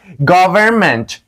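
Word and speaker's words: government: ره افاده خواهد کرد ولی در اینجه که من خط زیرش کشیدیم دوستای عزیزم گاورمنت گاورمنت نه گاورمنت این تلفظ نمیشود چون که قبل از امده این تلفظ هیچ وقت نمیشود گاورمنت و دوستای عزیزم بخش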